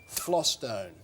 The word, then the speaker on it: Vlastuin: Yeah, Vlaston. Flostone. That's how. That is how his name is pronounced.